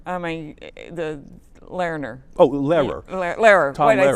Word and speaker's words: Lehrer: And you do so much with Lerner. I mean, the Lerner. Oh, Lehrer. Lehrer. Tom Why did I say Lehrer. that?